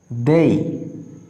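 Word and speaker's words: they: দেখো দেই, দেই। আমরা সাধারণত এটা ভুল উচ্চারণ করে থাকি, আমরা বলি দে, বাট ইট উইল বি দেই।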